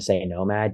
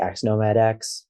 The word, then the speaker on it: xNOMADx: I've heard people pronounce it with the X's. Which do you prefer? I just normally say Nomad. You could say xNOMADx, but we usually just say Nomad.